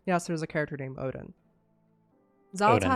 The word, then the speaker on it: Odyn: After defeating Odin in the Halls of Valor, yes, there's a character named Odin, Odin, Xal'atath not that one.